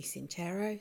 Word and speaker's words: Sincero: It's probably Sincero, but the Italian pronunciation would be Sincero, so that's where I've gone.